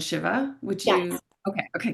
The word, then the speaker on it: Shiva: You just pronounced two goddesses names, and I would say it Vishnu and Shiva.